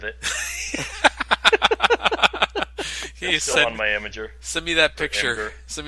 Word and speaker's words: Imgur: Imager.